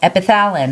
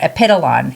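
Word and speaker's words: Epitalon: One is called epithalin or epidolon. It's pronounced a couple different ways.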